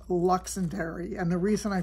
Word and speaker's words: Luxendary: be wrong it's called luxander and the reason I pronounce it that way is they said it was a combination of luxury and legendary so that's how they